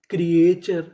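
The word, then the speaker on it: creature: सी आर ई क्र ए क्रिए टी यू आर ई चर क्रिएचर क्रिएचर।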